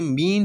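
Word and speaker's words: mesne: इसका मतलब ये, अच्छा यहाँ पे जो एस है ना, ये साइलेंट है, इसको हम बोलेंगे मीन प्रॉफिट।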